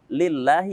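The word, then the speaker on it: لِلَّهِ: dengan jelas kemudian lillahi lillahi di sini karena diawali dengan kasrah Allahnya diawali dengan kasrah maka kita bacanya dengan tipis lillahi kemudian rabbil alamin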